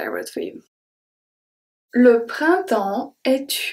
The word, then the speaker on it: printemps: Printemps. So here, I don't say printemps. I don't pronounce the P, I don't pronounce the S.